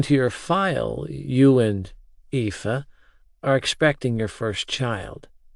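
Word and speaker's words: Aoife: It's pronounced ea. Shrugging, I added. It's basically Eva in Irish.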